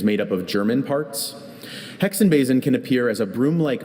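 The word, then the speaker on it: Hexenbesen: Hexenbasin can appear as a broomlike mass in many different types of trees, including oak, cedar, pine, and juniper.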